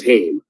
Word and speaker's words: Haim: hear the last name hame first of all people that mispronounce it i'm like you're definitely not from toronto if you don't if you can't pronounce hame like but if you